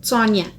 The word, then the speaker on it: Yona: La letra y suele pronunciarse como ts y el sonido ch se asemeja más al de ts que ch. Por ejemplo, Yona, que es parte del